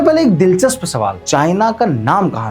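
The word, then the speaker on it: Qin: इसे लिखा जाता है क्यू आई एन लेकिन प्रोनाउंस किया जाता है सी एच आई एन मतलब चीन।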